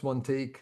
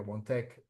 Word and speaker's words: OneTake: Uh so for me my custom instructions are often related to the fact that uh I pronounce one take like a French person. Sometimes people hear one tech uh is all always should be spelled as one take AI.